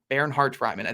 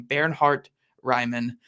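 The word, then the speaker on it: Bernhard Raimann: a brain injury and then Bernard barart Ryman Baron Hart Ryman that's how you say his name by the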